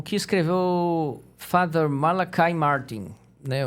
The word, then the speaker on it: Malachi: o que escreveu Father malakai Martin né O Padre e escreve malachi né você pronunci malakai procurem pelos livros dele